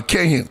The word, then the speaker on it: cayenne: Right now, uh Cayenne. Well, how you say it? Cayenne. Cayenne, right? Cayenne, right? Like Diane. You know, Diane.